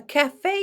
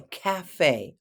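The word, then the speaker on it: café: line of food the cafe oh I know it looks like C but it's Cafe Cafe emphasis on the second syllable it's from the French cafe do you like to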